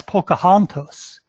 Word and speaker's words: Pocahontas: string of letters P all see aah-ohh npas pronounce this as pocahontas and in one context of naming refer to